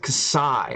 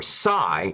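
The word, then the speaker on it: xi: to know Hoshi see or Kasai is the 14th letter of the Greek alphabet is pronounced Kasai okay so okay so we were right so ksi Kasai okay in modern Greek and generally Zhai or sy in English oh so we weren't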